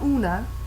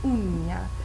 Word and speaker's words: uña: Notice the tilde there, the ñ. The ñ, it's not la una, uña.